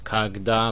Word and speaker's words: когда: which means when um so the stress is on the a so it's kagda like an a sound um yeah it just